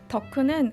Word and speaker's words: 덕후: 덕후는 한 분야의 미칠 정도로 빠진 사람을 의미하는 일본말 오타쿠를 한국식 발음으로 바꿔 부른 오덕후의 줄임말입니다 과거 덕후는 비호감의 상징이었는데요